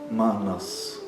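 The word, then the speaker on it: मनस्: Manas. Não é manas. Manas. Um A fechado e a pronúncia é rápida desse A.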